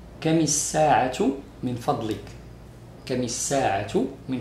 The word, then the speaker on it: الساعة: And when التاء مربوطة comes at the end of sentence, it's pronounced هاء. So you say كم الساعة.